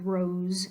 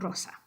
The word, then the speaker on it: Rosa: we already talked about don't let English getting your way with rose and you transfer it over to Rosa we want Rosa now the next one